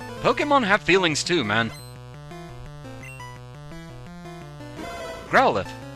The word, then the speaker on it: Growlithe: Growlithe. Which I always want to pronounce Growlithe because of the E at the end, but the anime tells me differently.